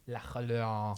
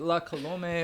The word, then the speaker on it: La Colombe: You don't pronounce the E? It's Nope. French, man. It's French. You It's know, La French. Colombe. La Colombe.